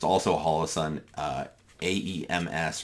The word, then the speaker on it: AEMS: It's also a hollow sun uh AEMS or the initials, but they apparently is pronounced Ames.